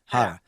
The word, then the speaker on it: Harra: How do you pronounce it? Harra.